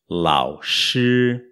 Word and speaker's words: lǎoshī: professor lao chi launch a primeira sílaba l á o inter seiro tom se pronunciada sozinha fica lá ó lá u o terceiro tom é o mais grave o mais baixo de todos e é o único que faz uma curva tinha ele desce até o ponto mais